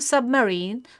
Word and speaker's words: submarine: For example, in the word submarine, the main emphasis is on the part of the last part of the word, but we should also put slight emphasis on the first part of the syllable.